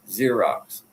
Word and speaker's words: Xerox: I mean, Xerox is pronounced like zero.